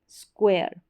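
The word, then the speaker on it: square: के साथ में यू हमेशा आता है हर स्पेलिंग में आपको क्य और यू साथ में मिलेगा तो स्क्व स्क्वेयर स्क्वेयर स्क्व स्क्वेयर एयर और स्क्वेयर श एस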